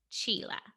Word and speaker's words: Csilla: you I was like calling you Sheila but it's Sheila yeah yes yeah it's close to Sheila but with a CH sound yeah I've been called